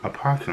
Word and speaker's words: opossum: And before y'all get on me, some people say the O is silent, others don't. Animal Planet pronounced the O, so I do too. Opossum.